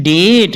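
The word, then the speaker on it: debt: दी आई बी टी दी आई बी टी डेट ना की डेप्थ ये बहुत से लोगों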